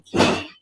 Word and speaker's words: Cay: Lookout Cay and Celebration Key. And the difference between that, I think they say K because Spanish pronounced that K.